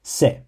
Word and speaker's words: せ: write ski to like the fourth character is pronounced SE and it contains three Strokes so you begin